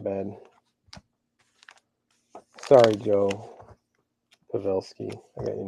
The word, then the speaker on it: Pavelski: to report that back this one is uh pavlesky pavelsky not bad sorry Joe pavelski I got your name wrong it shows zero for you random okay